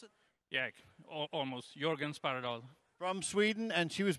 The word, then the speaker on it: Jörgen Sparredal: And George Sparredal, is that how you pronounce it? Yeah, almost. Jörgen Sparredal.